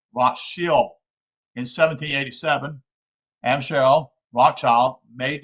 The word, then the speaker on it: Rothschild: That is, in German, the name is spelled Rothschild and is pronounced Rothschild.